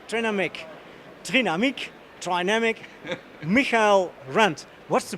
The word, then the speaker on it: Trinamic: please help us out oh the german one is dynamic of course yeah but we are an international company we sell most of our products outside germany so it's try namak but i personally like